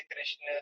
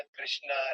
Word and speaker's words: कृष्ण: मैं बता देता हूँ प्रभु जी, इसका सही उच्चारण है हरे कृष्ण। ये कृष्णा नहीं बोलना है प्रभु जी। जो फॉरेनर्स हैं या कुछ लोग जो हैं वो कृष्णा रामा बोलते हैं, गलत उच्चारण है।